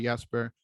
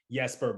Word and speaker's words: Jesper: over to Johansson as time went on, and Jesper Bratt is the same case, where if we were in Europe, he probably would go by Jesper, but since he was over here, has requested